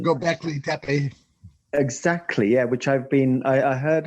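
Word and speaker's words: Göbekli Tepe: I'm going to write to you, an email to you regarding Gombleki Teki. Oh, sorry, Gombleki. I was practicing that before I came on. I knew I was going to murder that pronunciation. Gobekli Tepe.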